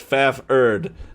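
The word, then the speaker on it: Fafhrd: cool part is with fafford pretty sure they're cats the cool part is with within with fafford in dialogue in the book he actually says pronounce faff ERD like yeah it gives the spelling so many like the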